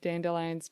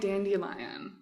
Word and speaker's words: Dandelion: more on the front i grew up calling it dandelion so but now people around me call it dandelion and i have to reckon with the fact that i may have been saying it wrong for decades like you're like dandelion like the eu's they get the i think i might have just like read it wrong as a kid and just no one